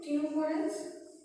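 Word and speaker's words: ctenophorans: तो इसका एग्जांपल में आ जाएगा स्पॉन्जेस, सिलेंड्रेट्स, स्पॉन्जेस यानी पोरिफेरस, सिलेंड्रेट्स, टिनोफोरन्स, सी साइलेंट इसमें टिनोफोरन्स एंड प्लैटिहेलमिन्थिस।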